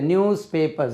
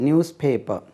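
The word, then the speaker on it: newspaper: அது எஸ் இல்லை, நியூஸ் பேப்பர், Z, நியூஸ் பேப்பர்.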